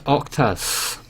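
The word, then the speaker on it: oktas: pronounce them sorry Michael it's not it's Octus Michael down to 180 here's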